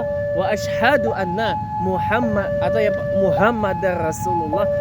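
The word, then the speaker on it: أنّ: tadi sudah saya contohkan jadi yang benar itu adalah asadu Anna Muhammad Rasulullah muhammadar rasulullah itu juga tasdidnya Anna ya itu allanya itu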